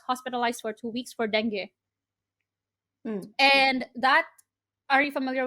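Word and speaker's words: dengue: got bit I got Deni and I don't know in other countries it's pronounced as denu but for us it's Deni so I don't know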